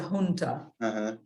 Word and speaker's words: junta: the same yeah yeah this is a Spanish word and they pronounce it in Spanish is a junta and uh the Junta